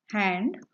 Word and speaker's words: Hand: Next word is hand. Die Hand. Spelling is same, but the pronunciation is different. So take care of these differences. Hand in English. In German, it is die Hand.